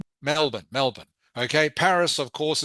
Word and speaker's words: Melbourne: Uh there are and okay Melbourne it's pronounced Melbourne Melbourne Melbourne.